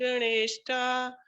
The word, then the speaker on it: गुणैः: गुणे विसर्ग है तो गुणेः आएगा, हा का उच्चारण आएगा, है ना?